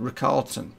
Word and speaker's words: Richarlison: Richarlison. That's how we pronounce it.